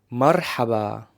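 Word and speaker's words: مرحبا: them in this phrase first it's the letter ra it's a rolling R so you have to roll your tongue to produce that letter like the Spanish R now the second letter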